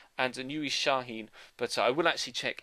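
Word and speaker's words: Şahin: bid for Nuri shahen I checked and it's pronounced shahin I did ask you guys or you did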